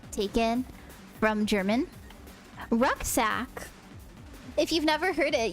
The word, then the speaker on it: Rucksack: Rucksack. If you've never heard it, you probably think I sound stupid right now because in German it's like what? Look. Look. But in English we're like rucksack.